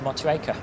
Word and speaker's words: Motueka: yeah, we'll take a little trip up to Motueka. Southeast Asia server, if anyone else wants to get ready for that. But obviously we'll hold off for Triduen's arrival, get everyone down and settled. Correct pronunciation, Motueka.